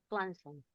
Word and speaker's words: Swanson: Swanson. Swanson. La w se pronuncia como una u.